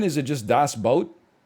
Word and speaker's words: Das Boot: o no it's not it's two normal O's that's how you spell boot in German is it just Das boat it's pronounced boat not